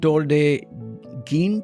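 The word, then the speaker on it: Tor des Géants: the one in Italy tode gin that's how they pronounce it 330 km with 24,000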